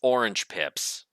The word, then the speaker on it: orange pips: I was putting the emphasis on the wrong syllable, as multiple of my grade school teachers used to say. It's orange pips, as in orange seeds.